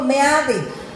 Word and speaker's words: Meade: No ha venido, tampoco ha venido Meade, ¿no? Estamos en México y lo pronuncio como lo leo, Meade.